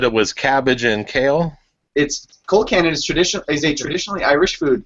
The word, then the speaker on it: Colcannon: Colt cannon. It's always Colcannon.